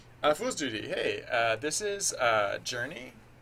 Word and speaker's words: JRNE: Fool's Duty, hey, this is Journey. It's like the new, it doesn't actually have a name, but the dev name is spelled JRNE, so I pronounce it Journey.